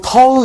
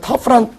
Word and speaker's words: tough: 어디 가서 또 터우 이러지 마시고, 이거 이제 터프입니다. 여러분이 아시는 터프란 단어고요.